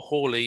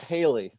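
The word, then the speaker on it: Halley: um apparition as well do you pronounce that harley or hawley is accepted as being the correct way yeah but it's not haley the general public in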